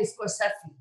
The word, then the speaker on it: Scorsese: Actually, you have to say Scorsese. Scorsese, yeah. That's Scorsese. True. That's the correct pronunciation.